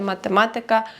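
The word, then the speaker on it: matematyka: пам'ятати і розуміти що іменники які закінчуються на ікка за винятком слова музика ораз Паприка будуть мати наголос не на перед останній склад як більшість слів польській мові а далі напевно вже Вам вирішувати Як вам говорити звикати але правильно казати математика фізика політика мами тутй приклад польська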